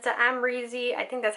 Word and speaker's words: Amrezy: And it's the Amrezy, I think that's how you say it. I've like come to realize that's how you say it. Amrezy Anastacia Beverly Hills palette.